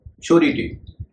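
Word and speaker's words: surety: शोरिटी यहां पर भी एस का उच्चारण श होगा क्योंकि यह एस व्यवहारिक शना है।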